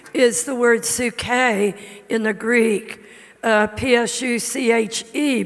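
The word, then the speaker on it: ψυχή: there in 3 john 2 is the word su-kay in the greek p-s-u-c-h-e pronounced su-k and su-k is is our breath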